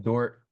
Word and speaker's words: Dordt: It's spelled DORDT though, which is important. Some people miss the D.